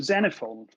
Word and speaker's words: Xenophon: his name was Xenophon, which is spelled with an X. So the first recorded healthcare murder may have been committed in AD 54 by the Greek physician Xenophon.